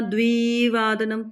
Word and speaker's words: द्विवादनम: द्विवादनम द्वि क्योंकि छोटी इ की मात्रा है।